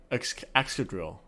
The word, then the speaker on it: Excadrill: Excadrill.